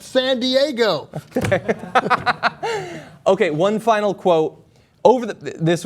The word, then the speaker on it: San Diego: No, it's pronounced San Diego.